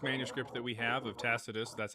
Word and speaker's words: Tacitus: So, what I'm going to do here is I'm going to pull up the oldest manuscript that we have of Tacitus. That's how you pronounce his name.